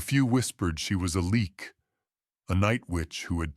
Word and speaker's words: Leak: This is where the legend of the leak, pronounced leak, was born.